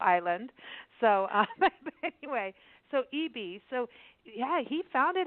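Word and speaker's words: Ebey: Is it Eebee or Ebbie? I don't want to get it wrong. It's pronounced Eebee. I know it's hard to tell from the spelling, but they pronounce it Eebee.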